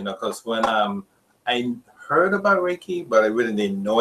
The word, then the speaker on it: Reiki: It's Reiki. Reiki. Like the sun rays and a key.